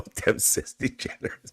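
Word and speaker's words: DeGeneres: That's degenerous. Thank you, Michael. Degenerous. Thank you folks for helping me with the pronunciation.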